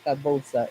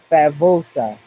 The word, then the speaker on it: favosa: Nope, it's not fabosa. It is favosa. Spanish, you pronounce a V like a B.